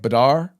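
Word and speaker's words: Badr: Badar. Bad with an R.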